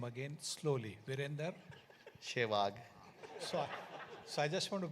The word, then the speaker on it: Sehwag: The pronunciation was always Shehwag, not Sehwag.